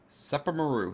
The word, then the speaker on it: Sepermeru: here on the map SEPA Maru that's how I pronounce it I called the set